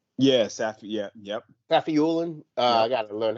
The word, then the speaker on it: Safiullin: So they had that Roman uh, Safulin, Yes. After. Yeah. Yep. Safiulin.